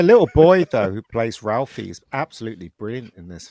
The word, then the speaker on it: Ralphie: The little boy though who plays Ralphie is absolutely brilliant in this film. He does, he was terrific. He's fantastic in it. Yeah. In England, they'd probably pronounce it Raffy.